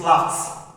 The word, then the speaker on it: laughed: A good example, I said when you have laugh, this is laugh. Laugh is having ed. It is no longer loud, it is laughed.